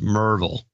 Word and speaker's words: Maryville: with enclosure DeLozier enclosure from Maryville pronounced Merville yeah yeah that's but